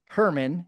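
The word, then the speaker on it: Germán: His name is Herman. He's from Latin America, so it's spelled German.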